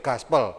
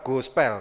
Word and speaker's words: gospel: Harusnya itu gaspel bukan go spell." Karena kalau go spell itu jadinya dua kata Bapak, Ibu ya, go spell.